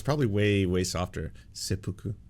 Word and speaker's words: seppuku: SE seu oh it's it's way more soft than everyone in the chats was saying people were like it's it's pronounced seu all all caps I was like it's probably way way softer seppuku like that um yes